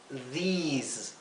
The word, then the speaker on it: these: Hay que pronunciar these y aquí those. La vocal que precede a la S se pronuncia larga, siempre y cuando tengamos otra vocal después de la S, como aquí, ¿verdad?